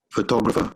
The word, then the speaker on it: photographer: listen to him again listen listen to this photographer now can i pronounce it it's photographer okay now you see